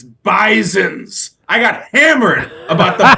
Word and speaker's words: Bisons: whole life it's bison I have come to learn it's bison's with a hard z sound in the middle I will never mess